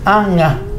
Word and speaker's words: anga: No es la G de gato, sino nga, anga. Claro.